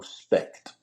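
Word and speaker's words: Specht: Spect. How you doing?" And he said, "You Americans, y'all are so lazy. The German language, we pronounce every letter. It's spec."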